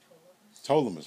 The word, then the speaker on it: Ptolemais: Ptolemais. Very good, thank you, because the P is silent.